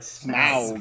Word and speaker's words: Smaug: Because you have to say it like Smaug. Like he's a gangster. I don't understand why they keep... It's like smog. It's like, no, it's not smog. It's Smaug.